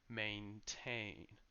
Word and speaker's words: maintain: A, except that the second syllable is a bit longer because it carries the main stress. So maintain, maintain.